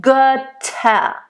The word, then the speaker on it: Götter: You don't want to really make it a diphthong too much because you don't have time here, but Götter, nice open, and then the T very harsh, Götter.